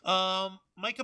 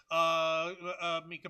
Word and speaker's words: Mica: Micah Burton, or is it Mika? I don't remember. It's pronounced Mika Burton. Mika.